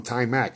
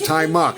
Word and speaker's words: Ty Mark: We used to call him Ty Mac and we didn't know that was the proper pronunciation. We didn't know. I called him Ty Mac for years. He never corrected me. It was Tai Mark and then we found out years after.